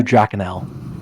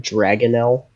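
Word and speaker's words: dragonnel: Michael cormic Michael corish and is a blue drael blue drael yes was the word it's a i Mis pronounced it's actually dragonell I know why calling them drael um but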